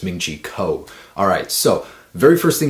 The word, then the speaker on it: Ming-Chi Kuo: about the iphone 7 a man pronounce his name wrong again it's ming-chi kuo alright so very first thing he's saying about